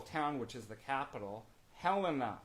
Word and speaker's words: Helena: come up to montana don't ever mispronounce helena is helena just a piece of